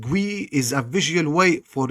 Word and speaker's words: GUI: The Graphical User Interface, pronounced GUI, is a visual way for users to interact with operating system using graphical elements like windows, icons, and menus.